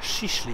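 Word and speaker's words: Şişli: mega górzysty Za mną widać Park i dzielnicę sisli tak to się wymawia taka dość bogata luksusowa dzielnica w Stambule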